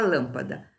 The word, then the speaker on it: lâmpada: Já a palavra lâmpada. Lâmpada. A sílaba tônica não foi a última, não foi a penúltima, foi a antepenúltima.